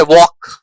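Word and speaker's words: walk: जैसे काम जैसे चौक, जैसे वॉक, जैसे आर्म, है ना? पाम इन सारे वर्ड्स में एल जो है वो साइलेंट होता है।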